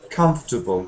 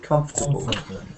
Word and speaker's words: comfortable: and comfortable I think if you try to count the syllables sometimes it might say there are four but if you listen to the main syllables there are only three main syllables the uh comfortable comfortable so like this uh the the little one between com and fur is too quiet so quiet that you can throw it away because it's impossible to